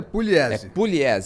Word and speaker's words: Pugliese: jornalista e criador do Museu da pelada Sérgio puglie eu acho que tá certo gente porque já soube que essa pronúncia minha tá errada do nome seja bem-vindo